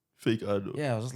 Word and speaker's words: FakeAno: and then now like on my bios, like I put the pronunciation like fake. No, you know. So now like yeah, FakeAno. but like in the start, everyone used to call me FakeAno.